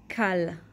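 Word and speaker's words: קל: for the llama so we write k and then we have this symbol which is an a and then we have a L Kyle Kyle Kyle means easy okay next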